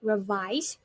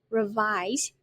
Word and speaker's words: revise: as a B for revise and now for revision the pronunciation we have two sound two syllabus revise we put this right on the second and be careful it ends with Z revise now we know